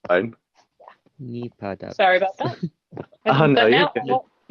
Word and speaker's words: NipahDUBS: Hi, it's actually pronounced NipahDUBS. It's a common error. It's fine. NipahDUBS.